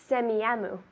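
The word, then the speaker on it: Semiahmoo: a a h m o o very good semiyamu good that's a pronunciation it's a Native American name it's a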